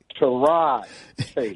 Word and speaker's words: Tyrod Taylor: No, let me pronounce it right. Tyrod Taylor.